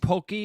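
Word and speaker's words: Poké: Is it Is it a Pokeball or Pokey? I think Pokey is the right way to say it. P O K E.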